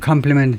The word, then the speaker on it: complement: 판을 세계은행이 공개했는데 to complement GDP's focus on income. GDP가 지금 인컴의 수입에 초점을 맞추고 있는데 그것을 complement 보완하기 위해서요. 보완하답니다. 이 PLI는 칭찬하다고 PLE는 보완하다. 발음은 똑같아.